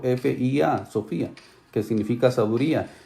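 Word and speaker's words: σοφία: socia así como se escucha s o efe sofía que significa sabiduría y esto sería significa él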